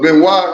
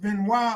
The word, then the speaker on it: Benoit: you okay okay don't worry about it because Ben why is his body I'm Gonna Roll with that then I'm yeah I'm cool and said ain't it pronounced Benoit I said hell no that's Bernard hell I